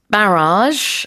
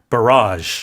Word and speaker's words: barrage: So the stress is on the second syllable. Okay. Right? In England, barrage. In North America, barrage.